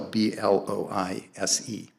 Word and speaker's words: Blois: How do you spell B-L-O-I-S-E? I assume it's Blois, because French leave the end off.